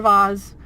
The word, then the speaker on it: vase: So we're gonna go in here and get a vase or vase, however you like to say it. I say vase because it's spelled V-A-S-E, and B-A-S-E is pronounced base, not vase.